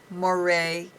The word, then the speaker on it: Moret: online we have it on our website Moray and my name is spelled l e u r e n